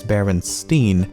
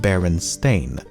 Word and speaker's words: Berenstain: However, many remember the name as Baronstein and not Baron Stain.